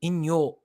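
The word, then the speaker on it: 陰陽: way it's compared to inyo in japanese is the japanese way of pronouncing yin yang darkness and light the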